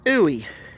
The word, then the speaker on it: Huey: see right here, UH-1, they would pronounce that as Ooey, and then that came to Huey.